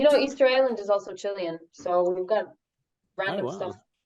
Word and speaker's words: Chile: about Chile it might it is Chile is the correct pronunciation Chile chili so this is the point of high drama amongst Chileans a lot of people prefer for people to say Chile but I think like